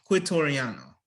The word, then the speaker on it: Quitoriano: Quitoriano.